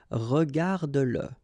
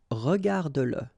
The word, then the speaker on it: regarde-le: the pronoun le, and if it comes after your verb, like in that case, then you will have to pronounce it. Okay, so regarde-le, regarde-le. All right, regarde-le.